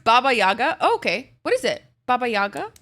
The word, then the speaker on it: Baba Yaga: okay it's a witchy Adventure game with then Bobo jaga's house I have no idea who that is hi Callie Callie look at your girl look at her I did good this time bro it's pronounced Baba Yaga okay what is it Baba Yaga what is